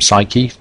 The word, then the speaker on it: psyche: Psyche, or as the ancient Greeks would have pronounced it, psyche, means soul or mind.